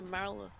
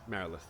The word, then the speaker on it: Marilith: I thought it was a Marilyn. It is Marilith.